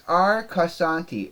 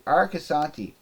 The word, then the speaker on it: Arcosanti: I have such a hard time pronouncing that for some reason. It's Arcasanti. Arcasanti.